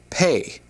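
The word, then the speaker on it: פ: And then the letter after is pronounced pay.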